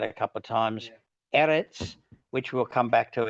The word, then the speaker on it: Eretz: Eretz is how it's said.